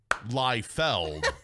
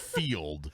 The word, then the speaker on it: Liefeld: saying his name wrong it's lie fell not field which is that's why